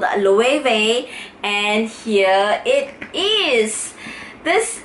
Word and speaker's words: Loewe: Yes, Loewe, or maybe some of you may pronounce it in a different way, but it's actually called Loewe.